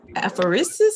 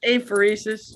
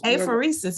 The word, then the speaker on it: apheresis: before parkland she was an apharisis nurse is that how you pronounce that yeah it's apheresis apheresis yeah what is apheresis